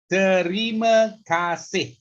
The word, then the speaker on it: terima kasih: Okay, the first one, terima kasih. Terima, 3 syllable. Terima kasih. Kasih, 2 syllable.